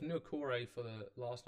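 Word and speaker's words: Niukore: I don't pronounce the first name, but it's Nukore for the last name, I know that much.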